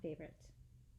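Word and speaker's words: favourite: his being a general favorite. Favorit. Favo, you right. Favor. Anyways, it has an extra U that's silent. F-A-V-O-U-R-I-T-E. Favorite.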